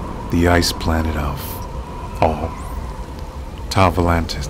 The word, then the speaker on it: Tau Volantis: Tau Volantis, that's what it's pronounced.